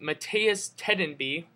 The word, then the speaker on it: Mattias Tedenby: about two minutes later Mehmet metea let me pronounce this right Mattias tedenby of rookie for the devil's you know since